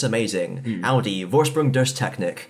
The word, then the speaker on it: Vorsprung: And, like, it's German, so you'd pronounce it Vorsprung, or at least you'd make an effort to make it sound German. Vorsprung yeah.